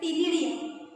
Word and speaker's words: ctenidia: Shows numerous gills called as अ टिनिडिया. उच्चार टी पासून करायचं आहे, स्पेलिंग लिहिताना सी पासून लिहायचं आहे, CTENIDIA.